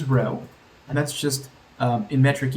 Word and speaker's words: rho: And the final number we need to know, which is always very important and rhymes with no, is rho.